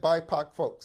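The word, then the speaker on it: BIPOC folx: what i just said you might be like bipac folks what you talking about okay bipac folks i use the term bipac folks yes i said bipac folks and you might be asking what in the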